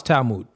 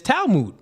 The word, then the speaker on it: Talmud: I did pronounce Talmud. I think it's Talmud, right? Talmud.